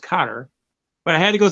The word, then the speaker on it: Qatar: So I go in, I find out she can speak pretty good, but she wanted to mail some key back to Qatar, actually pronounced Qatar, but I had to go through some bureaucracy.